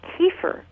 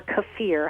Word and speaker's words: kefir: they claim they do now kefir or cafir however you want to pronounce that uh also can be